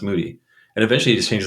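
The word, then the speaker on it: Moede: oh oh Titus Moody it looks like mode but it's m OE D pronounced Moody and eventually he just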